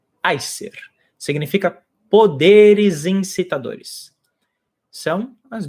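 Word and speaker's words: Æsir: As pessoas, geralmente em português, chamam de Aesir. A pronúncia em nórdico antigo é Aesir.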